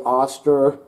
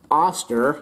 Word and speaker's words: Oster: that I've read is the auster I think it's pronounced auster is a much better product